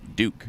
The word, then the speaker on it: Duke: propellers do you see pronounced Duke Duke not duck not duck propeller got to meet